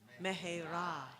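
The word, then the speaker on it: מהרה: And in Hebrew we often emphasize the last syllable of stuff. So mera mera.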